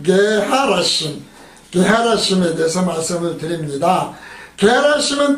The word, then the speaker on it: 게하라심: 게하라심은 뜻이 히브리어 게하라쉼이라는 발음으로 되어 있거든요.